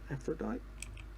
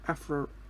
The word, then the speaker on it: Aphorite: Okay, so we got the Aphrodite. Oh, Aphorite, I think would be the actual proper way to say that, not Aphrodite. There's no D.